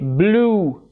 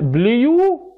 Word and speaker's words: blue: اذا لو سبق حرف اليو او الاي دبليو حرف ال او صوت ل ينطق بلو. انت سمعت حد قبل كده قال بليو بليو يعني يو؟ لا طبعا تنطق ايه بلو سواء امريكان او سواء ايه بريتش.